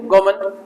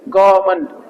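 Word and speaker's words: gourmand: है कोई टेंशन नहीं गमन क्या है आपका गमन रूल बताया था ना रूल की जरूरत नहीं है आप ऐसे करके दे लो ग मंड ग मंड ग मंड ग मंड गोमन गोमन नहीं दो में पढ रहा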